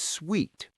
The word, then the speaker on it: suite: Suit, like a business suit, has a clear S sound at the end. Suite, like a hotel suite, or in this case, a suitcase, has a soft S sound that almost sounds like a gentle T sound.